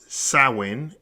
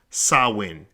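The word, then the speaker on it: Samhain: GIC word pron pronounced sawin s a h w i n the very word itself is spelled s a m h a i n but it's pronounced sawin is usually celebrated from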